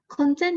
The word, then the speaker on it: content: yes so the second one is content content content means materials such as photos or videos that